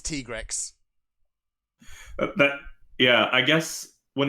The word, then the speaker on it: Tigrex: Capcom's reasoning behind it the pronunciation is Teague Rex but yeah I guess